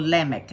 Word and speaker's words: Lamech: Now, or Lamech, it should be pronounced.